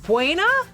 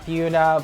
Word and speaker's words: Buena: You mean like Buena? Everybody pronounces it Buena, and we always have to say, oh, we call it Buna, but I'm pretty sure it's Buena.